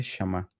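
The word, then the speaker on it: שמע: palabra en hebreo y esta sería su pronunciación. Sí. Eh, si alguien hablara hebreo, por ejemplo, lo que escucharíamos nosotros sería este shamá, que significa oír inteligentemente.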